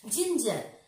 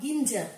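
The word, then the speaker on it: ginger: জিঞ্জার, জি আই এন জি ই আর, জিঞ্জার, রয়েছে কি আই নট গিঞ্জার, কি বলবো আমরা, জিঞ্জার।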